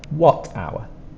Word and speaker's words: watt hour: spelled many times before don't forget the H is spelled but we don't pronounce it our two sounds hour what hour so let's review the